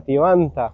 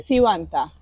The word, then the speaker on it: Tibanta: Está aquí Tivanta. Así es, profe. Lo pronunció muy bien. Sí, no me costó aprenderlo, pero bien. Yo antes lo pronunciaba con C y es con T. Sivanta.